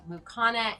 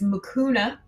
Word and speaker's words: Mucuna: about the seeds of mukhana and fellow dendron root in the regards to sleeping okay great question so um hopefully this doesn't sound critical it's mucuna um but close enough um and through dendrin just